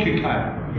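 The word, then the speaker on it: Queqiao: Okay, so that actually got that QKO, it's called. I'm not sure how to pronounce it. Andrew, you know the proper pronunciation of it? QKO. Spacecraft name. Yeah, it's called QKO. That's how we pronounce it.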